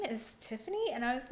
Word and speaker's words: Tiffany: But like, at this point, I'm like, no, like, I should have like said, like, now when people say Stephanie, I'm like, no, it's like Tiffany.